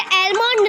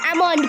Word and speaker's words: almond: Rule, L is silent after the vowels A, O and U. Calf, half, almond। हम इसे काल्फ नहीं काफ पढ़ेंगे, हम इसे हाल्फ नहीं हाफ पढ़ेंगे, हम इसे एलमोंड नहीं अमोंड पढ़ेंगे।